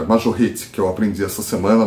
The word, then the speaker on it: Majorette: Eu tô aprendendo a falar o nome da Majorette certo, é Majorette, que eu aprendi essa semana, mas eu vou melhorar a minha pronúncia.